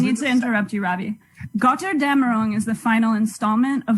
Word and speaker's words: Götterdämmerung: it's important that you say it like Götterdämmerung, Niles, like God damn it, but it's Götterdämmerung.